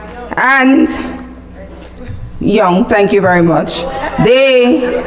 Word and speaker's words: Jung: lot of time reading the works of Carl Jung the Swiss psychologist and psych analyst and young thank you very much the wait the